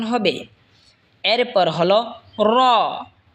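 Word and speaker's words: ر: উচ্চারণ হবে এরপর হল র জিহবার আগার পিঠ তার বরাবার উপরে তালের সঙ্গে লাগায় উচ্চারণ হবে র এরপর হল ছা জিহবার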